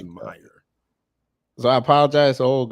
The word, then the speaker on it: Meijer: Oh, it's called Meijer. Yeah, it's called Meijer. Yeah, I thought it was Major. so the J is silent. It's Meijer. Okay, it's Meijer.